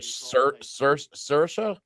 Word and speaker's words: Saoirse: I know it could be spelled Fergal, and he pronounces it like Jonathan. Yeah. Because I mean, I don't know how you get Saoirse.